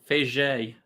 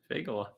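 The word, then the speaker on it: Fagot: Diego Fege. Nah, that's not it, actually. Keep going. Diego Fagola. It's Fago.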